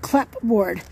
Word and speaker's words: clapboard: It's spelled clapboard, but it's pronounced clapboard.